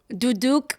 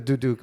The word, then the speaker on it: duduk: You were educating me on some of these and you were telling me so that pronounce the ch duduk.